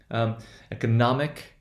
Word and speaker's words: economic: By the way, economic would be economic, would be 2-0-1-0.